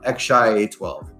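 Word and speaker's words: X Æ A-12: my notes, is, well, I'll spell it out, X, an A that's kind of slanted next to an E, and another A, a dash, and a 12. But it's pronounced X-shy A12.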